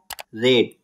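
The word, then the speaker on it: read: form phloem उड़ गया रीड means पढ़ना सेकंड फॉर्म रेड स्पेलिंग वही रहेगा प्रोनंसिएशन चेंज हो जाएगा रेड थर्ड फॉर्म रीड इसका प्रोनंसिएशन रीड मींस पढ़ लिया या पढ़ चुका हूं हाइड छिपाना सेकंड फॉर्म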